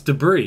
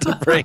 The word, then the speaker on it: debris: oh actually yeah it's debris we know we actually but neither of neither in American English and English English we don't pronounce this s at all well I don't either it's debris remember that I it's